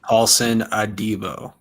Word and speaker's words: Paulson Adebo: Paulson Adebo.